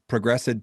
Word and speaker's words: ProgressEd: that obviously with am I going to say ProgressEd pathways? Is that how do you pronounce ProgressEd?